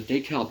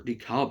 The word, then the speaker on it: DeKalb: And as for the DeKalb Junction, or DeKalb Junction, how it's actually pronounced, yeah, it's another pretty bad bottleneck.